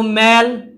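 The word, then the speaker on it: mal: তার একটি হচ্ছে মেল, আমরা এটা উচ্চারণ করব মেল, আরেকটি হচ্ছে এরিয়া।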